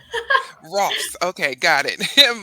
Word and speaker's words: Rohlfs: Rohlfs rhymes with golfs. Rohlfs.